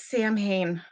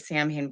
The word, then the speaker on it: Samhain: figured you know it's samhain why not lots of people here in america they do call it samhain but to be honest it's actually pronounced samhain uh tonight we're gonna